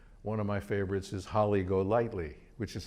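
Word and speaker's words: Holly Golightly: down the road one of my favorites is holly go lightly which is how we would pronounce it but in the movie one of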